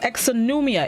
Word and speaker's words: exonumia: the word of the day this morning is exonumia it's spelled e-x-o-n-u-m-i-a it's a plural known which means